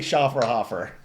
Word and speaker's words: Schofferhofer: think you're spot on it is literally schaer hoofer I think that and